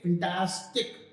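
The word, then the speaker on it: fantastic: वी से फैंटास्टिक। फिन, फैन, फैन होता फैन ही है, लेकिन उसको जल्दी बोलते हैं फैन। फैन टैस, टैस को बड़ा खींचेंगे, फिर टिक को छोटा कर देंगे।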